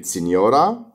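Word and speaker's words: signora: نقرا مع بعض كده سينيورا. سينيورا سينيورا يعني سيدة. أي جي إن في الإيطالي بنشوفها بننطقها ني، زي كلمة سينيورا.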